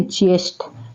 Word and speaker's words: ज्येष्ठ: तो इसका सही प्रोनाउंसिएशन होता है ज्येष्ठ, ना कि जेठ, ठीक है।